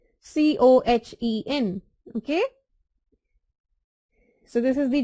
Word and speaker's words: Cohen: H is silent, Cohen.